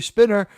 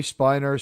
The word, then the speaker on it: Spiner: He used to say look what it's actually spinner and a certain point he's like you know what I love the fans and they're used to calling me spiner.